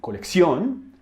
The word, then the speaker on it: colección: In Spanish, we will also find words with doble C, but doble C always sounds like X, as in colección, accesorio, and diccionario.